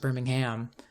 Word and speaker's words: Birmingham: I'm revealing my Americanness because I'm thinking of the American city, which is pronounced Birmingham. Alright, what am I doing in here?